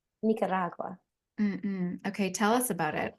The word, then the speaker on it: Nicaragua: the local say it you have to say Nicaragua Nicaragua Nicaragua okay tell us about